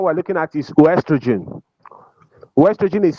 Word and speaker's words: oestrogen: Ostrogen is spelled O E S T R O G E N. Orogen. Some some people pronounce it as estrogen but it's still the same thing. Sometimes the O is silent.